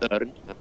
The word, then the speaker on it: Örn: Oh, it's got a couple of dots on it. Pronounced Örn. It means eagle in English, or in Icelandic, shall I say.